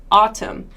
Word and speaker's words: autumn: have is this one in autumn autumn autumn has this sort of ah sound ah it's not quite an O sound it's like aw almost